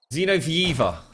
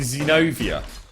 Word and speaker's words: Zenovia: It's actually Zenovia. Zenovia. Not Zenovieva.